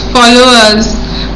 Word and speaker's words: followers: দেখো আমি যখন উচ্চারণ করছি লেফট ওভার্স, ফলোয়ার্স, আরটা উচ্চারণ হয় না।